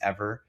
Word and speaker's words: Eavor: Just this week, there was a company, I believe it's called pronounced Eavor, EAVOR, and they announced their first commercial scale enhanced geothermal plant.